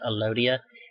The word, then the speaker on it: Elodea: There's a water plant that you often see used in aquariums called Elodea, or some people pronounce it Elodia, and it has very, very thin leaves that make for an excellent microscope slide sample.